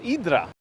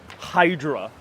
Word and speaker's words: Hydra: to live there oh yeah the Ariel is pronounced idra so yes I'm I'm using both versions because